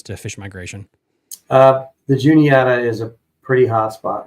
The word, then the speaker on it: Juniata: what about the uh juliett we have uh Juniata I know the comment section here my apologies my my Virginia PR pronunciation as Matthew says there is no Julie here yes June yata thank you uh PA